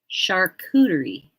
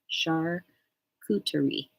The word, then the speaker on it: charcuterie: Never heard it pronounced. Charcuterie board. Charcuterie.